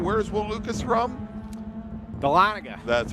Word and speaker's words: Dahlonega: Dahlonega. That's right, not Talladega. Or Dahlonega, for that matter. From down Georgia way. That's spelled J-O-R-J-U-H, I think is how you do it.